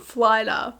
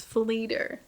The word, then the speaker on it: Fleer: called yal and then I think I said flyer but yes it's Fleer so thank you so